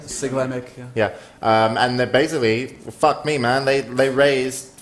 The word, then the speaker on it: Siglemic: So Cosmo was there, Sigmelic, I think you say his name. Siglemic, Yeah, and they basically, fuck me, man.